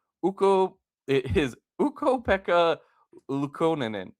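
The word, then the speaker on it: Ukko-Pekka Luukkonen: It is Ukko Pekka Lukonen.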